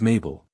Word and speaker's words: Mabel: My name is Mabel. It rhymes with table. It also rhymes with label.